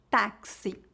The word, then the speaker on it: táxi: palavra sexta-feira e quarto o x pode ser pronunciado como KS como na palavra táxi agora como saber como pronunciar